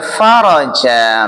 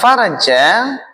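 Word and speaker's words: فرج: Nah, ini enggak boleh bacanya enggak boleh salah. Nah, karena maknanya beda. Kalau anal faraja artinya adalah kelapangan gitu ya. Kelapangan. Tapi kalau anal farja artinya adalah apa?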